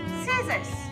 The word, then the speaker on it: scissors: We have instances and letter C is silent in the word scissors.